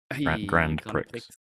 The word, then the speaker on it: Grand Prix: Actually, that's Grand Prix. That's how you pronounce it.